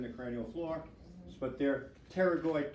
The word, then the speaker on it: pterygoid: cranial floor but they're pterygoid plates silent P pterygoid plates or sphenoid so greater